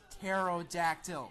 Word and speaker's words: pterodactyl: makes me physically sick by the way it's pronounced pterodactyl it's about as difficult to Triceratops also technically